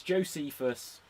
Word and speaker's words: Josephus: Joe Josephus or Josephus I forget how is pronounced its Josephus and he's clearly pretending